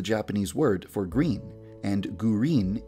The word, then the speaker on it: Gurin: Midori is the Japanese word for green, and Gurin is the Japanese pronunciation of the English word green. So I decided to name her Midori Gurin.